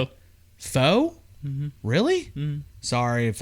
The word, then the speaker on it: faux: Faux? Mm-hmm. Really? Mm-hmm. Sorry if I... I'm pretty sure it's faux. Faux. Wait, F-A-U-X? F-A-U-X. Oh, I'm thinking of F-E-A-X, right? Fuck it. Fox, faux, whatever.